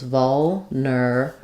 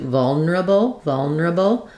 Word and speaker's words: vulnerable: So we can do, it's always going to be stressed on the first syllable, vol. And then the middle syllable with the there is optional, vulnerable. So one way would be to say it fully with 4 syllables, vulnerable.